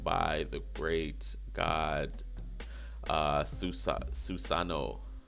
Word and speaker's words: Susanoo: the Great God suicide Susanoo Susa no that's that's how you pronounce it you know from the